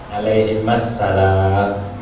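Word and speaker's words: عليهما السلام: Terus bacanya gimana? Alaihima, bukan alaihi itu satu doang. Kata Nabi Ibrahim, saya cita. Nabi Musa itu anak keturunan saya. Saya nggak bacain sholawat, jadi bacanya alaihimas salam.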